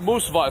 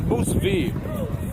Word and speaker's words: Musvi: It's not Musva, it's Musvi. Apologies for the pronunciation.